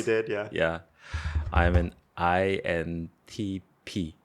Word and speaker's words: INTP: mean some people say INTP in Korea but some people say intip oh they're shorthand for